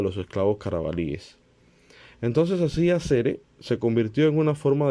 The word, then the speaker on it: asere: noticia yo algo similar se pronuncia con una fuerte connotación en la primera sílaba o sea acere o con una r suave en la segunda no se pronuncia como una r o sea acere así así no más tal cual